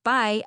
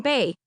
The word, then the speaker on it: bae: He pronounced it by as in goodbye rather than bae.